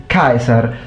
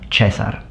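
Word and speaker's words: Caesar: agree with me that classical pronunciation is kaiser with a separated dip thong. And we will get to the dip thongs in a moment in a moment. And in ecclesiastical pronunciation, it would become chesar or chzar.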